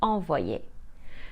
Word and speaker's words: envoyer: This happens when the Y is placed between two other vowels. For example, the French for to send is envoyer. We spell it E-N-V-O-Y-E-R. Here the Y is placed between the O and the E. It will be combined with both vowels to create a sound. O and Y is wa, and Y and E plus R is ye.